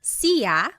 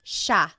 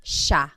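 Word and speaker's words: siya: look at the spelling it looks like it should be pronounced CIA but it's actually pronounced Sha Sha there are some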